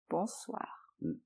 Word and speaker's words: bonsoir: Bonsoir. Donc attention à la prononciation, bonsoir. Bonsoir, en un seul mot.